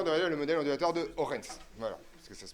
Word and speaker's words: Huygens: Vous connaissez déjà Huygens qui se prononce Orens.